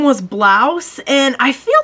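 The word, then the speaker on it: Braus: I remember it being like B-R-A-U-S, but they pronounced it like Blouse.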